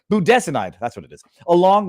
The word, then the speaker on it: budesonide: icin hydroxychloroquine Zac tlu buod I want to pronounce that one wrong budas budesonide that's what it is along with a nebulizer